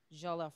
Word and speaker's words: jollof: Chef L um so the recipe is called jollof rice am I pronouncing that correctly yes um for an American